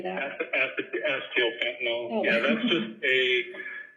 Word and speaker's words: acetyl fentanyl: Acetyl fentanyl.